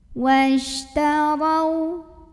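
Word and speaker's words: وَاشْتَرَوْا: Huruf ra dibunyikan secara tafkhim karena ra-nya berbaris fathah. Maka cara bacanya ditebalkan. Ra, pangkal lidah kita naik. Washtarau.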